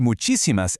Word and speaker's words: muchísimas: The word muchísimas ends in an S, so rule 1 dictates we should stress the second to last syllable, but natural Spanish speakers stress the third to last syllable.